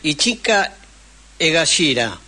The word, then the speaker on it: Ichika Egashira: No sé si lo voy a pronunciar bien. Ichika Egashira.